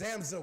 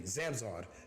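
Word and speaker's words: zamzawed: you can digest it so today's word is zamzow with Sam's with excuse me zamzade that is how you pronounce it zamzar z-a-m-z-a-w-e-d Samson and the sentence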